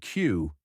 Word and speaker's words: queue: Then comes one of my favorites, the word Q. Q is pronounced exactly like the letter Q. That's it, just Q.